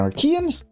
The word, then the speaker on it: Archean: we are back in our Kean and that is how you say it I looked it up and that's what Google told me so we can say it the correct way right off the bat